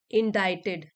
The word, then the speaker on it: indicted: हैं और समझते हैं अडानी इनडाइज सी साइलेंट है अडानी इनडाइज इन यूएस